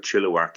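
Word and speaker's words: Chilliwack: live in a in a town called chilak it's spelled chilak but chilak it's very close to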